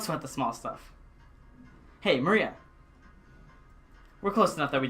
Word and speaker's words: Maria: is pronounced Maria.